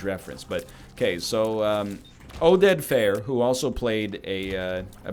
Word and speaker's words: Fehr: really funny either way Oded Fehr plays as probably pronounced fear so I apologize he